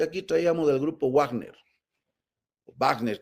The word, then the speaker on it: Wagner: Entonces, digamos que aquí traíamos el grupo Wagner, Wagner que se pronuncia exactamente, ruso.